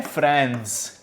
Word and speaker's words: Franz: इसमें हम एक बॉय के बारे में पढ़ने वाले हैं जिसका नाम है फ्रांस। ठीक है, एक बॉय जिसका नाम है फ्रांस, जिसकी स्पेलिंग है FRANZ, who lives in फ्रांस।